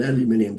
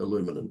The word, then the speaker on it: aluminium: said look I've got an aluminium fence business now you guys pronounce it aluminum aluminum fence business and he said I've